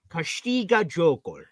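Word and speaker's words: Câștigă jocul: So I'm on Google and I just heard the woman pronounce it. Castiga Jokul. Oh, yes, that's more European.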